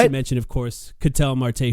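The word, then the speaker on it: Ketel Marte: Not to mention, of course, Catel Marte, whose name, by the way, is definitely not pronounced Kettle Marty.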